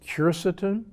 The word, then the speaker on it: quercetin: Another of my favorite supplements is quercetin, sometimes pronounced quercetin.